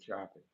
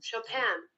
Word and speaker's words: Chopin: That's not how you say it. I know it ain't chopping. Yeah, it's like it's not English, so there's an accent on We got the best question answer in the world.